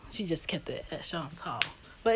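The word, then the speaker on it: Chantal: shant tall okay and when country folks here Sean tall they instantly tell me back that my name oh is Shantel no I said Shan tall okay the only two people on Earth that pronounce my name correctly would be my mother and my French Professor um in college for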